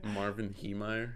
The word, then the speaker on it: Marvin Heemeyer: Marvin Heemeyer?